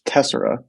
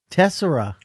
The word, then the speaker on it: Tessera: after it real quick it's tessera tessera although i mean if that's like actually how you pronounce it or not honestly i don't really know but we're gonna go with tessera and we've kind of decided we're sticking to it love it but yeah